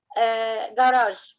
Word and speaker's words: garage: Garage. Not ga. It's g. Schwa. Garage. Garage. With schwa.